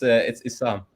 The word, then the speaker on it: Issam: How do you pronounce it now? It's Issam. Issam.